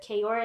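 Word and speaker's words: Ka'oir: Gucci Mane and Keisha Kayor, is that his last name? Yeah, that's how you say it.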